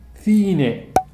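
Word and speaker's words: cine: هذه معلومة ثانية، السي تنطق ثا في الإسبانية لما يجي بعدها آي أو إي. بضرب لكم مثال عليها أيضا. المثال الأول ثيني، ثيني يعني سينما، ثيني.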